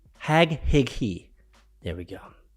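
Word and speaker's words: Haghighi: bad of a it's h a g h-a-g-h-i-g-h-i hag he hag he there we go said marianne hag hickey the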